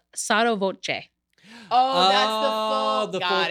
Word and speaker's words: sotto voce: How did you pronounce it? It's sotto voce. Oh, that's the full. Got thing. it. Oh, okay, yeah. Oh, I always thought it's Soto.